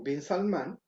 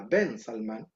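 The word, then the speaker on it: bin Salmán: Saudita a rogarle a Vin Salmán, a Ben Salmán. No podemos decir vin nosotros que somos hispanoamericanos, porque el bin es la pronunciación anglosajona de Ben, porque en estricto rigor se llama Bensama.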